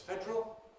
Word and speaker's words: federal: federal, which I usually say is federal, and informs of words like bothering, which I think I usually say is bothering, not worth bothering about.